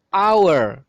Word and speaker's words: hour: Karena hour itu cara pengucapannya itu adalah hour. Hour berarti dimulai dari huruf A cara pengucapannya.